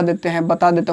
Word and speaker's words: the: यहाँ पे दी पढ़ते हैं इसको। आप इसको क्या पढ़ेंगे? दी अमेज़न, दी अमेज़न।